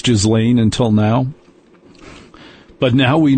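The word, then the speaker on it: Ghislaine: You and I didn't know how to pronounce Jizlane until now, but now we know.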